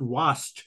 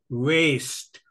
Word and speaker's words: waste: yesterday I told you it is not was it is waste waste people will not understand it is waste w a s t e waste you you keep pronounce